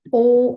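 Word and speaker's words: を: o but pronounced as o right we already have one r e a o right this particular hiragana also it is pronounced as o but when you type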